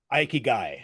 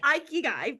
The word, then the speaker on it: Ikigai: You need a paycheck to take care of your family, but you also, and I cannot pronounce the Japanese word that you said. Aikigai. Ikigai, yes, as well.